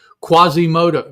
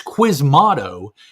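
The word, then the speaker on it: Quasimodo: here and you find quasimoto. No, that's not how it's spelled. It's is it's quiz motto. Qui m a d o. But for the first several times I saw the word, it was quasimoto.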